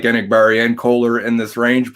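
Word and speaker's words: Enagbare: Kingsley Ngabari, is that how you say it?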